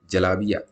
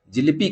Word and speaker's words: जलेबी: नाम बदलकर हो गई जलाबिया। उत्तर पश्चिमी भारत और पाकिस्तान में जहां इसे जलेबी कहा जाता है, वहीं महाराष्ट्र में इसे जिलेबी कहा जाता है और बंगाल में इसका उच्चारण जिलिपी करते हैं।